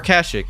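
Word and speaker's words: Kashyyyk: The next stop is the wiki planet Kashik or Kashik as it's pronounced in some of these early games.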